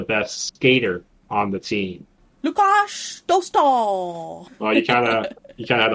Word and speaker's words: Lukáš Dostál: Lukáš Dostál. Got there that we one. go. With the Czech people earlier. will appreciate the pronunciation as well.